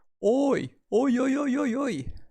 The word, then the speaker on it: 多い: The pronunciation for many is oi. Prolonged O, oi.